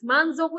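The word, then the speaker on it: 満足: mendapatkan bonus 10.000 yen ya morim dia puas manzoku itu puas ya apakah kalian puas kalau mendapat bonus 10.000 Ibu ya enggak?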